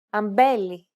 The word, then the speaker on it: αμπέλι: When these double consonant combinations are within a word and after a vowel, they are usually pronounced with nasalization, and they sound like this. Ng, φεγγάρι, ng, εγκοπή, μb, αμπέλι, nd, ένταλμα.